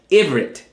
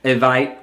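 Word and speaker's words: עברית: word Ibrit, pronounced as Ivrit. Sometimes mispronounced as Evite or Ephite or Ehite by the Igbos. In Hebrew, B is pronounced as V.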